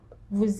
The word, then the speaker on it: vous: Vous êtes, which is you are. Now, you notice that we didn't pronounce the S in vous there.